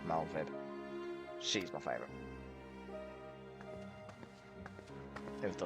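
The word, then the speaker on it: Merlwyb: I like Malwib and it's how you pronounce her name. Spel Melwib, but it's pronounced Malvib.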